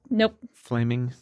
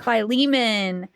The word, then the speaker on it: Philemon: And then also there was a letter to Flaming. Just say it. Philemon.